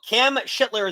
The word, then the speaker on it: Cam Schlittler: because no no no cam shitler is the is the pronunciation from everything that I